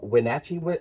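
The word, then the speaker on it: Wenatchee: so my guest today elain Eagle uh from wachi uh Washington am I pronouncing that right that's correct yep all right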